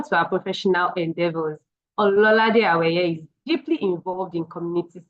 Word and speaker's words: Awaye: It's pronounced Awaye.